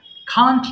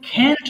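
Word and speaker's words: can't: হবে না এবার দেখো কান্ট ডু পড়বো হ্যাঁ আই কান্ট ডু আমি করতে পারি না সব উচ্চারণটা একবার শোনো বাবারা এটা কিন্তু ক্যান্ট বলা যায় কান্ট বলা যায় তোমরা কান্ট পড়বা হ্যাঁ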